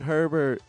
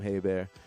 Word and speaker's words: Herbert: Then we can call him Herbert, how he wants to be called, but I'll call him Haybear. Because there was a Detroit Lions quarterback named Bobby Haybear back in the day and was spelled the same as Justin Herbert.